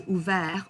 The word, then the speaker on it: ouvert: Okay, so ouvert, offert, souffert, découvert. And please do not pronounce that T at the end.